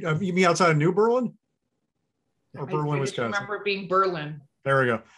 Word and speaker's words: New Berlin: eldest son's girlfriend's from new berlin right and you can tell it's it's not berlin it's new berlin because that's how we pronounce things we murder them here yes they berlin had